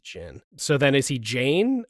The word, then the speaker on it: Zin: I didn't realize he wasn't Zayn until I was going through the uh uh what's that website called?